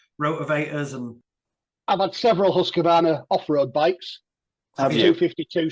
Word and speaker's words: Husqvarna: And I was looking to see what brand they were, and I can't even pronounce it. I think it's Husqvarna. Husqvarna, yeah. Husqvarna.